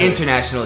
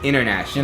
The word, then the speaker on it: international: It's not international, it's international. International.